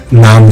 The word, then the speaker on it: नमः: जब नमः आप बोलें तब नमत ना बोलें। अधिकतर लोग ओम नमः शिवाय बोलते हैं, तो वो ना बोलें, उसका उच्चारण सही करें, ओम नमः शिवाय।